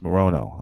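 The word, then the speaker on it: Morono: It's Morano. I was wrong.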